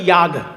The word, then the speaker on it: যাগ: যাগযজ্ঞ আমরা বলি না, আমরা বাঙালিরা বলি যাগযজ্ঞ, আসলে বাঙালি তো ওই জন্য যাগ বলি, সেটার সংস্কৃত উচ্চারণ হচ্ছে ইয়াগ।